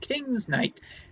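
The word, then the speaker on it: King's Knight: And I believe I actually pronounced that properly this time. Yes, it is King's Night.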